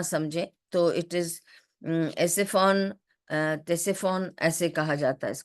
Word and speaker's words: Ctesiphon: تو it is ایسفون, تیسفون ایسے کہا جاتا ہے اس کو.